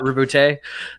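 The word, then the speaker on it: Roboute: I did a quick little research, and apparently, like, it has to be based on the Latin pronunciation. I don't know what that means for reboot. I think it's reboot, not reboote.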